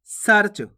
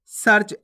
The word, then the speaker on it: सर्च: गर्व कैसे पढ़ेंगे गर्व सर्च कैसे पढ़ेंगे सर्च आपको सरच नहीं पढ़ना अगर आप सरच पढ़ोगे तो र का पूर्ण उचा हो जाएगा इस प्रकार से देखो सरज